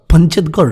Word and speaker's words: পচেতগড়: হোমস্টেডতে যা পূর্ব মেদিনীপুরে পচেতগড়ে অবস্থিত সেই বিখ্যাত পচেতগড় রাজবাড়ি যার ইংরেজি উচ্চারণ আবার পঞ্চেতগড় রাজবাড়ি আচ্ছা এইতো হলো রুম আরেকটা